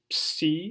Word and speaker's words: psi: And psi is a double consonant, ps.